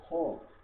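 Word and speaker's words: خ: তারপরে খ, গলা ঘষে উচ্চারণ করতে হবে, খ, খ, খ।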